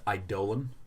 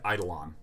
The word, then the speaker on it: Eidolon: just say I hate that this word is pronounced idolan I like idle on a lot more pronunciation and that's incorrect it's